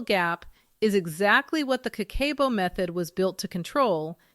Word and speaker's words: kakeibo: In Japanese, that word is kakeibo, pronounced ka-ke-bo.